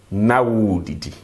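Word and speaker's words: na ɔredidi: We will say Na uredidi, you were eating. But remember, the proper pronunciation is going to be na udidi.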